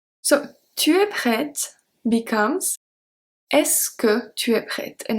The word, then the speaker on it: est-ce que: So, tu es prête becomes est-ce que tu es prête? And it's pronounced est-ce que.